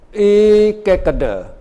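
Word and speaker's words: ekaggatā: Ekakada. Now you can read. You have to pronounce a. Remember. Ekak. K-A-G. Kak. Kata. Gata. Ekakada literally means one-pointedness.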